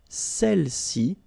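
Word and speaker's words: celles: all right feminine plural Cel okay don't pronounce the final s Cel s all right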